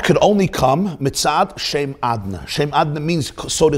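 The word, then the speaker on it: אדני: hainu inyan hagiluhu b'shem adna. So this means that the way he's written is not the way he's pronounced. The way he's pronounced is the name Adna, not Yud Kei Vav Kei.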